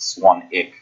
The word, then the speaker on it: Swanwick: spilled Swanwick even low ii w silent it's pronounced swung ich and if you want to learn about 30-day